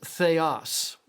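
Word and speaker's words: θεός: It's pronounced theos.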